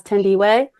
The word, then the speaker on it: Thandiwe: Um and she'll hopefully forgive me for this, Thandie Newton and I think she pronounces it now as Thandiwe.